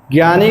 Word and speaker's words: ज्ञ: सावधानी वर्तनी चाहिए क्यों क्योंकि हिंदी में ज्ञ का जो उच्चारण होता है वह ज्ञ और य की तरह होता है ज्ञ का उच्चारण किस